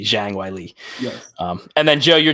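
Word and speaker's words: Zhang Weili: introducers that I apologize the Chinese pronunciation there'd be Shang Wiley yeah and then Joe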